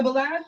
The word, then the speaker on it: Belange: So Balaj, Balaj, am I saying it right? Yeah, Belange, like Solange, Belange.